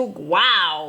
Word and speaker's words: guao: I'm gonna go into wow which guao is uh it's spelled g-u-a-o is basically saying wow and I'm gonna go